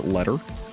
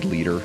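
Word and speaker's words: Leder: um swinging hey leader or as I mispronounced your name earlier letter I guess you could pronounce it either way but I think it's definitely supposed to be leader and not letter I guess you could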